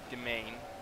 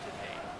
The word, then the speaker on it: demesne: So the word over there, domain, or demesne, as it's spelled, is actually properly pronounced domain.